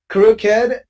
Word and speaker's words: crooked: A, B, C are exceptions in English. You have to say rugged, crooked, and wicked.